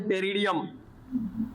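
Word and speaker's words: Pteridium: पहला example टेरिडियम। अब टेरिडियम पी से स्टार्ट होता है, पी यहां पे साइलेंट है, टेरिडियम।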